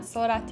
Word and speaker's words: sorate: Sorry, I know I was mispronouncing it in my other videos, but sorate, I believe that's how you say it.